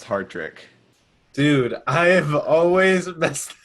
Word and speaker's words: Hartrick: the comedy association hattrick what's up what's up uh you know me for a long time you should know my last name is pronounced hard trick dude i have always